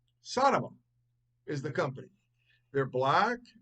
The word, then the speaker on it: Sonoma: Or how you pronounce this particular shoe. Ready? Sonoma.